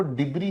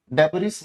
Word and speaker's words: debris: इसकी प्रोनाउंसिएशन को ध्यान रखें बच्चे, इसकी जो प्रोनाउंसिएशन है वो डिब्री होती है, डेबरिस मत पढ़ना, डिब्री।